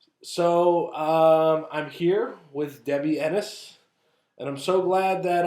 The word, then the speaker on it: Ennis: glad that uh I've been pronouncing your name wrong the entire time I've known you most people I don't know where they get eNOS you know I think it's his fans I think cuz eNOS is a first name